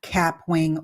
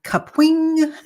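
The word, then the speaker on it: Kapwing: is a tooled call capwing or caping is actually the way that it's supposed to be pronounced so I had not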